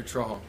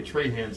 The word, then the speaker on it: Trahan: first of all give us a the correct pronunciation of your last name troll all right how many trade hands do you get a week uh every day